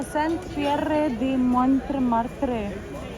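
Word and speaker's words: Saint-Pierre de Montmartre: यहाँ देखिए, अगर हम इसको फ्रेंच में प्रोनाउंस करेंगे तो ये फ्रेंच में कुछ ऐसा लगेगा, सेंट पियरे दी मोंटमार्ट्रे।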